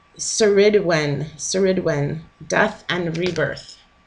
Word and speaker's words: Cerridwen: why I giggled so I think you say it's sir Sir Edwin sir Edwin death and